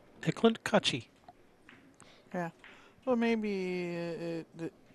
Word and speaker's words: Eklent Kaci: have yeah we know we asked him how do you say your name he said hey Clint coochie yeah well maybe it's